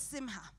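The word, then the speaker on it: שמחה: And the Hebrew word for joy is simha. The H is the C there is silent. It's simha.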